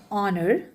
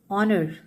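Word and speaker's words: honour: लेकिन अगर आप इसे ध्यान से पढ़ो तो यह साउंड सभी वोवेल साउंड है।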